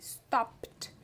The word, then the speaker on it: stopped: Então aqui a gente parou de servir mesmo esse stop no passado que ele vira stopped. Ó como vai direto do P pro D.